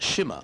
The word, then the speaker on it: Shima: Shima Wright. It's pronounced Shimmer, apparently.